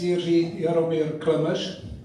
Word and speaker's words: Jiří Jaromír Klemeš: My name is Jiří Jaromír Klemeš, pronounced correctly in Czech.